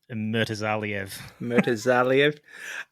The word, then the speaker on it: Murtazaliev: You can pronounce his surname for me, Zach? Murtazaliev.